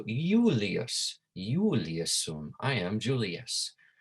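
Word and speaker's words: Iulius: saying the name julius remember there was no j in latin and made more about yeah sound you might remember when we went through the pronunciation made more like a yeah right so yulias julie assume i am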